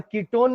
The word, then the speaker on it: कीटोन: ओन लग जाता है भले स्पेलिंग वन की है बट आप इसको प्रोनाउंस क्या करेंगे किट वन थोड़ी ना बोल रहे थे इसको अभी तक अपन क्या बोल रहे थे इसको अपन कीटोन भले वो ओन स्पेलिंग वन की होती है बट यहां पर ओ प्रोनाउंस एस ओन तो इसके पहले तीन